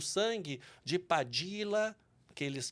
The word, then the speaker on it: Padilla: sobre o sangue de padila que eles que eles pronunciam Padilha bravo e baldonado eu eu falo padila porque se eu se eu disser Padilha quem não nunca viu termina escrevendo com lh e eu fiquei com trauma